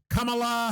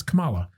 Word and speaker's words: Kamala: Kamala Harris, which is weird that, not shitting on her name, it's a cool name, but I guess the pronunciation is Kamala Harris.